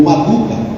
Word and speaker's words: Marduk: Nabucodonosor ele era rei de Babilônia, e ele adorava um Deus do Babilônia chamado Marduk, ou Maduka, assim também pode ser pronunciado.